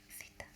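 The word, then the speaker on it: θήτα: And this will be theta.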